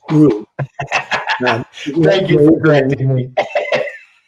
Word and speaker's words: Gro: Mark, but it's not Gro, it's Gru. Thank you for correcting me. So just think about the anti-hero in the movies with the minions, right? His name was Gru.